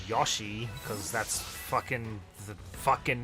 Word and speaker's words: Yoshi: It's just gonna be like the rest of the stream, like the next hour, is just Yoshi. Americans say Yoshi. Japanese people say Yashi. It's Yoshi. I'm hearing Yoshi.